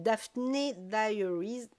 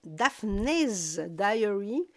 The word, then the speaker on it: Daphne Diary: j'ai sorti mon magazine Daphne Diaries non daphnees diary que je le prononce pas mal que je présente sur